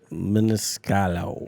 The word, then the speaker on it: Maniscalco: Maniscalco. All right. No, there's a C at the end. It's Maniscalco.